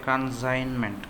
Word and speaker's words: consignment: consignment silent letter okay consignment consignment silent consignment consignment G would be G would is silent.